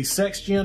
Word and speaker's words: Sektion: This is the Sektion, I think is how you pronounce it. S-E-X-T-I-O-N.